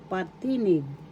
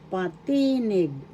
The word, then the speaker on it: patinig: Vowels in Tagalog is patinig. First syllable pa. Second syllable t. Third syllable nig. Patinig. Second syllable is where the accent is. So that's how you pronounce it in tagalog. Biggas. Patinig.